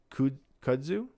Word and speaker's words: kudzu: growing swarm of asian kudzu how do you say that wait where k-u-d-z-u kudzu kudzu bugs in georgia although